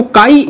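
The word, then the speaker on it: χ: अच्छा, mole fraction को represent कैसे करोगे, इसको काई ए से रिप्रेजेंट करोगे, इट्स नॉट एक्स, ठीक है, तो इस वजह से आप इसको काई से ही प्रोनाउंसिएशन करोगे, काई ये आपका मोल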